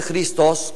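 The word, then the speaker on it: Χριστός: tácito había confundido este cristos con este cristos Quiero recordar que los griegos de la de la Coin de la de los tiempos de Cristo pronuncian la eta como yota por tanto esta palabra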